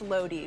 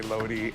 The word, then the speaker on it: Lodi: thank you and then someone else said it's pronounced Lodi which is a little shout out to uh